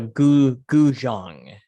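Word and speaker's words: 古筝: It's called a guzhang. Guzhang. Guzhang with like a j.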